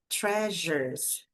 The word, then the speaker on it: treasures: her most cherished treasures, treasures, aqui esse som do s vai ter esse som de já, já tre sure ficam então dois sons basicamente nessa palavra, treasures, treasures então são os